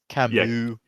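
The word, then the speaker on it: Camus: Is that is that Camas or Kamu? in the French pronunciation.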